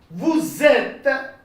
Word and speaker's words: vous êtes: Vous êtes. Get a Z sound, sort of Z sound. Vous êtes. Okay, consonant vowel together. You shouldn't say vous êtes.